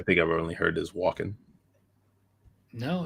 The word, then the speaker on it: Walken: I don't ever think I've heard the L pronounced in that one. I think I've only heard is Walken.